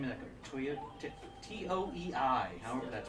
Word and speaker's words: Toei: T-O-E-I, however that's pronounced. Toei. Toei. Skate Rook says if they really want to go back to the roots, why not make Breath of the Wild, Zelda 3? Toy.